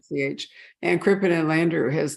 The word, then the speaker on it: Hoch: It's just, if you're looking for it, you might spell it Hoke. But anyway, it's Hoch.